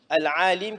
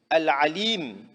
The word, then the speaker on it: العليم: Mais si on ne prononce pas bien le ayn, on dit a.